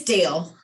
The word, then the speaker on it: Dale: looks like, how do you say your name? Dahl from Ames just hopped on. Love to hear from you. It's Dale. Dale.